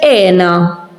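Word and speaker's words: hena: Now here we have ena. En, as you can see, the H, it's not cut like this one here. So this, we don't pronounce it. We start from here, ena.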